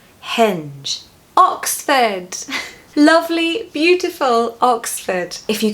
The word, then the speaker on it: Oxford: Don't pronounce that R in the second syllable, just replace those letters with a schwa, Oxford is a very